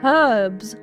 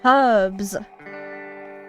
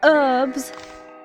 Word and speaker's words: herbs: Herbs. Where you pronounce the H. Herbs. Not herbs. Herbs.